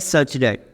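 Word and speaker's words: such that: अब मेरा एक्स क्या है, तो बोलेंगे एक्स, ये मेरा वर्टिकल लाइन से एक्स सच डेट, इसको प्रोनाउंस करते हैं सच डेट।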